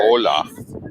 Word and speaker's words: hola: Hola. Okay. All right, come on. So you don't pronounce the H.